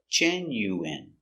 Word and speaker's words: genuine: genu genuine genuine genuine first syllable stress genuine genuine genuine let's practice